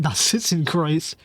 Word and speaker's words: Narzissenkreuz: Narzissenkreuz.